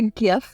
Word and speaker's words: GIF: And I always, my phrase, and I use the GIF, and yes, I am a GIF person. I am a hard G.